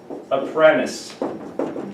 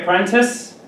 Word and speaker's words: apprentice: Because apprentice. And you can say apprentice, but here in North America, we say apprentice.